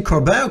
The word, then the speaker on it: Corbin: to to see that uh well uh coburn uh can i pronounce it do i pronounce your name correctly corbino corbin uh yeah so in french it's cordon